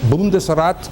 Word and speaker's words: Bundesrat: de crato fiquem tranquilos alemão inglês não precisa trocar as letras em alemão bundesrat pronuncia-se como está escrito não em dois não